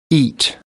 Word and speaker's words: eat: Por ejemplo, yo no podría decir it, porque estaría cometiendo el error de pronunciar con el símbolo fonético. La palabra comer debería pronunciar de esta manera. Eat.